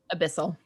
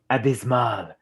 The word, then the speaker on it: Abyssal: Abyssal. Abysmal.